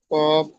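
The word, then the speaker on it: ق: এটা যেমন শুরুতে একদম গোড়া দিয়ে আপনার কফ উচ্চারণ হচ্ছে, এটা সামনের দিকে কিছুটাই এসে কাফ।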